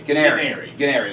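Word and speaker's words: Guarnieri: say guary Jack Canary Gary Canary like Canary but with a G and Jack calls me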